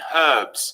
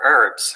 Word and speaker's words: herb: america they are schedules gb chefs like the h in herbs whereas they prefer herbs across the pond do you know the